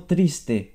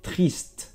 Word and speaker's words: triste: Aquí es como triste, pero aquí te paras, no pronuncia la E como en español, va a ser triste, triste.